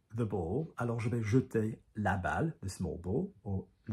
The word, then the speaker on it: jeter: all of this business, jeter is a really, really, really, really commonly mispronounced verb in French. Because it is J-E-T-E-R, so jeter, like I, je, jeter. But when you conjugate it and go into the short form, you say jette, je jette.